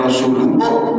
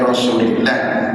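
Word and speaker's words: رسولِ الله: Kalau as-salatu wassalamu alaika ya Rasulullah, jangan ya Rasulullah, ya Rasulillah.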